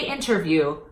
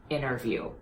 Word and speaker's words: interview: and center and dentist so when you see an entity between two vowels I still recommend that you pop the T so in relation to this lesson say interview not interview one more time the